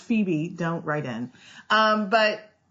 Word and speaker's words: Phoebe: that awful movie she was in shag with phobic Kates I know it's pronounced Phoebe don't write in um but Mrs Kevin Klein